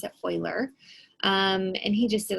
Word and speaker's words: Euler: do pronounce it i know it looks like euler but you pronounce it euler um and he just did a lot of